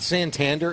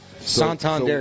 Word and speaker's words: Santander: It's not Santander, it is Santander. And you got to go like, hoi.